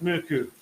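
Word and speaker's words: Mørkøv: so it's Nick out moo-coo don't pronounce the V Mitchell would be your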